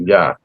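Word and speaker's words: Iah: So the I is really a Y.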